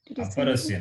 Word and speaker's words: अपरस्य: स्वराः यस्य वर्णस्य उच्चारणे उपरस्य वर्णस्य Aparasya, not uparasya.